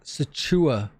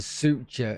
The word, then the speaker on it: suture: Uh, and you're going to get this satura. No, that's not how you pronounce it, is it? It's a suture, isn't it?